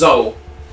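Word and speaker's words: Kxol: Sorry, my name's Zol. It's K-X-O-L. The K is silent.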